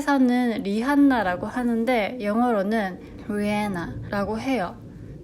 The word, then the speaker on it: Rihanna: 라고 했어요 또 하나 생각지 못한 점은 가수 리한나 아시죠 한국에 사는 리한나 라고 하는데 영어로는 후 해나 라고 해요 h 소리가 별로 안 들려서 영어발음이